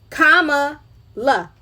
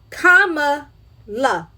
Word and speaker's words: Kamala: No matter how you cut and slice it, all of y'all wrong for saying her name wrong. It's easy to say. It's Kamala. Kamala. It ain't Shaniqua.